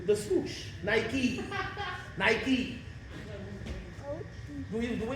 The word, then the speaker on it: Nike: nights almost everybody got on nights you mean Nike the swoosh Nike Nike do we do we call it biky do